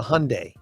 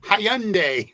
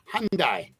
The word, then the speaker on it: Hyundai: pretty sure it's a Hyundai oh it is or as my sister calls it hyand Hy Lori it's the why is silent it's Hyundai Hyundai Hyundai whatever but it's not Hy